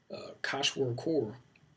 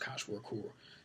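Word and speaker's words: kwashiorkor: a low protein intake kosh work or if I always mispronounce that but I think it's pronounced Koch work or is a disease prevalent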